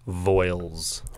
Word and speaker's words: Voyles: guess everything it's awesome my last name is pronounced voils voils don't spell it that's